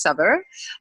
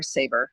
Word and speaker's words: Saveur: So it's Saveur or Savor.